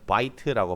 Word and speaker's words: bite: 얘는 bit라고 발음하자면 얘는 bite라고 발음하셔야 돼요.